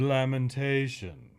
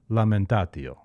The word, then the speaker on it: lamentatio: Do you pronounce it like in Italian? Then you say lamentatio.